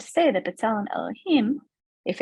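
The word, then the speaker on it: אלוהים: B'Tselem Elokim, in this case, I'm even saying it wrong, right? It's B'Tselem Elohim. We're all created in the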